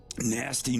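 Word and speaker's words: Gnasty: Nasty Knoll. I love how nasty is spelled GN.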